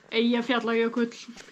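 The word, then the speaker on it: Eyjafjallajökull: volcano that we were on today is called Ijafjalakailakul. I jump jelly school. Okay, how do you pronounce it, Dad? Ia fiol yoklch. Yoklch. Okay, and how do you actually pronounce it? Ia fiol yoklch.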